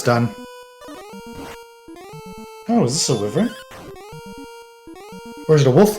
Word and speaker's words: wyvern: Chad informs me that wyvern is the correct pronunciation.